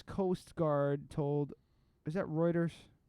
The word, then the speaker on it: Reuters: Is that Reuters? How do you say that? Reuters. Reuters.